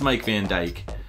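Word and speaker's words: Mijk van Dijk: I'm assuming it's Mike Van Dyke. Otherwise, it's Mick Van Dijuk. Which I don't think is quite right.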